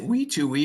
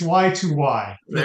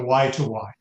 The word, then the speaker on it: Wi2Wi: how to pronounce it it's it's why it's y to Y go just like the stock symbol and just like WiFi exactly was WiFi history so why to why fantastic let keep it